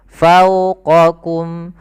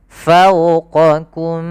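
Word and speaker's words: فوقكم: Fau monyongkan, fauqa. Kemudian bedakan antara huruf qaf dan kaf. Fauqaku, fauqakum, fauqakum sab'an shidada.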